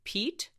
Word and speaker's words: Piet: of a correction apparently his first name is pronounced pete in art history and in way artist